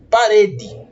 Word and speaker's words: parede: Vamos pegar a palavra parede. Nós dividimos a palavra parede em 3 sílabas. Parede. Percebam que o re é pronunciado com mais intensidade.